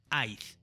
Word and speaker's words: I'd: I would tiene la contracción I apóstrofe D y se pronuncia I'd.